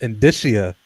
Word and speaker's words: indicia: And it was it's pronounced indicia.